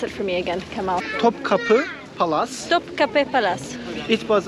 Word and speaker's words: Topkapı: Now, the place that we're going to now, can you pronounce it for me again, Kemal? Topkapı Palace.